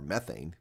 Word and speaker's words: methane: planet's atmosphere while at the same time giving methane or methane, correctly pronounced, and other organic molecules a kick out